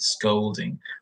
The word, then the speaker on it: scolding: the difference between them because scolding I make more of an O sound with scolding whereas scalding so can